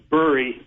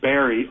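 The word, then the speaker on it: Burry: I get the uh same kind of problem all the time with my last name because it's pronounced Bur, but I get Barry all the time.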